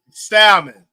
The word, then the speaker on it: salmon: Like salmon. Did I pronounce the L in that? Salmon.